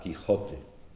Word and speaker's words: Quijote: primera parte en 1605 ya estaba generalizada la pronunciación velar con la parte posterior de la lengua como decían los tratadistas